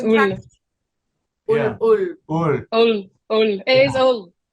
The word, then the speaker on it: Hull: It's not yeah, if you're saying Hull, it's not right. It's not right. You're not from Hull if you don't say it like that.